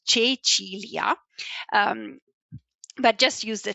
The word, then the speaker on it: Cecilia: This is how you say my name, in case you're wondering, so it's Cecilia.